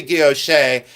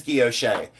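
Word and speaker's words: guilloché: I say guilloche, and then some people will pronounce it another way, but I say, yes, it is guilloche.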